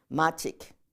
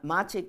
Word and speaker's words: Machig: Okay, and Machik is, and sometimes you'll see that spell Machik. Machik. Machik with a K. With a K instead of a G, okay? It's just how you pronounce it.